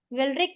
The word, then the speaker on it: वेलरिक: वेलरिक के स्पेलिंग होते हैं VALERIC, वेलरिक एसिड इसको बोलते होते हैं, और ये होता है ब्यूटारिक एसिड।